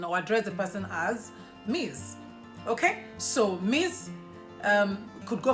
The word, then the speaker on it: Ms.: And that then takes us to what we'll spell as MS, right? Now, MS is not pronounced Miss as most people would. It is pronounced as Ms. So M-I-Z, that's the pronunciation.